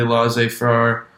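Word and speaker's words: laissez-faire: you know form of leadership communication was they laissez far that's how you say it form of leadership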